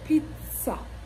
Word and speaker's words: pizza: do you pronounce it Pizza this word is pronounced Pizza Pizza so the two Zeds in this word